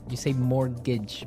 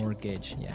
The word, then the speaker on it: mortgage: Yeah, it has a t in it, but you don't pronounce it. You say mortgage. Mortgage. So, not mort mortgage. Not mortgage. Mortgage. Mortgage. Yeah, I had trouble spelling